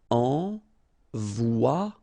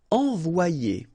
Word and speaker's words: envoyer: Okay, so it's quite interesting because you've got this Y here, alright? But then if you've got one vowel before, one vowel after, then it will change like if it would be E here, one, and then a second E here. So you get the sound O-I, so it's wa, and then you get the sound I and ER, it's ye.